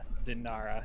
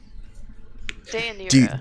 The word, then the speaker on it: Dayanira: So Elena, after desperately catching her eggs, kind of looks at Kyra and then Dinara. Is that how you say it, Dinara or Dinira? Dayanira.